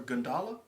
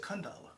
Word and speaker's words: Gundala: I just said Gundala. I thought you said Kundala. No, Gundala.